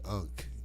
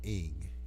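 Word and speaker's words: ankh: Maybe I can convince you that the unk is really pronounced ing, and I got a strong argument to convince you of its pronunciation.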